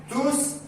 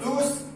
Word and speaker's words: tous: Ils sont tous forts, on prononce S, tous forts, récits et obéissants.